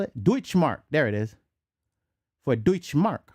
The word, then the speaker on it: Deutschmark: Was that how you spell it? Deutschmark.